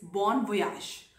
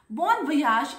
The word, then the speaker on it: bon voyage: Number three word is bon voyage. Bon voyage is spoken with a ja, Y-A-G-E, but ja is how it is pronounced in France. So bon voyage means bon is good and voyage is travel or journey.